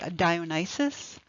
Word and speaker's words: Dionysus: This person we've been looking at is the ancient Greek god Dionysus, sometimes pronounced Dionysus, known to the Romans as Bacchus.